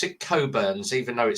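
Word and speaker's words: Cockburn's: Um, and it's uh they pronounce it coburns, even though it says cockburns on the uh on the bottle, but yeah.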